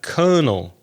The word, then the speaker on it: colonel: captain major and Colonel you'd better spell colonel I reckon Craig Colonel Co l o n e L only two syllables colonel after that we're getting